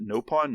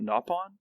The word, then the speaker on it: Nopon: they they talk about oh wait you guys pronounce it nope on not nap on that was interesting sidenote yeah I remember that